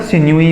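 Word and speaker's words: sinewy: इसे सही प्रोनाउंसिएशन इसका सिन्यूई होता है।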